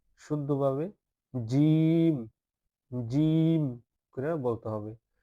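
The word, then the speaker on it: جيم: তিন নক্তা এরপরটি হচ্ছে জিম জিমের মধ্যখানে এক নক্তা। এটার নাম হচ্ছে জিম। শক্তভাবে বলতে হবে। শক্ত করে বলতে হবে। হালকাভাবে বললে হবে না। শুদ্ধভাবে জিম।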